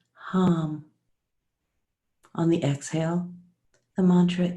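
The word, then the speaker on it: ham: breath on the inhale the mantra is hum H am but pronounced hum on the exhale the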